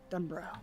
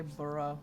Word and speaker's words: Dunbro: And Dunbro. I was gonna say burrow. Yeah. Well, there's no U between the B and the R. It's like Edinburgh.